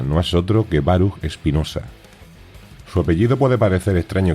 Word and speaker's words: Espinosa: más natural es decir Espinosa empezando con una e Y acabando al final con una s la última sílaba la razón de esto